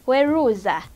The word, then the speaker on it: weruza: Then our next word is weruza. Weruza, which is spelled as W-E-R-U-Z-A.